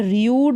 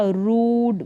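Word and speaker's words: rude: और इन स्पेलिंग्स में यहाँ पर र्यूड नहीं हो रहा, रूड, ब्रूट, यू का उच्चारण ऊ साउंड आ रहा है, डूड, प्लूम।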